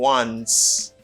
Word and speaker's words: once: Et ça prononcer comme once. Once. Jusqu'à maintenant, ou pas clair. Let me help you. Bon m'aider. Once. Les gens sont W qui devant. Once. OK? Once. Ils prononcent comme once.